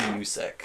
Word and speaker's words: Usyk: Alexei Usyk.